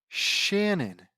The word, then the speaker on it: Shannon: Shannon? Shannon. I mean, it's spelled like cannon, isn't it?